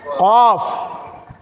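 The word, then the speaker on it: قاف: এটা আসি এদিকে আসি কফ কফ কাফটা যখন আমরা উচ্চারণ করব জিহ্বার গোড়া তার উপরের বরাবর তালুর সঙ্গে লাগিয়ে উচ্চারণ করতে হবে তাহলে কফ কফ কফ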